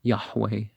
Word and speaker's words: Yahweh: deliverer sent out from jehovah and of course yahweh is how you pronounce it and that would have been a